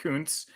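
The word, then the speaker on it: Kuntz: yeah don't talk about Zach Koontz that's how you pronounce that name Jamie Zach Koontz um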